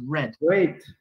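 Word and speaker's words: read: se escribe al día cuando decimos reír en el pasado es como el color rojo decimos red very good very good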